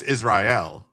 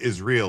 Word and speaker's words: Israel: around bikinis and they don't pronounce it right. It's it's Israel. Yeah. But they're pronouncing it is real. Like it's is real.